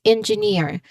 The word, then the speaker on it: engineer: The words the word ends in ear and this suffix does the opposite. It pulls the stress to the very end. That's engineer. So we say engineer with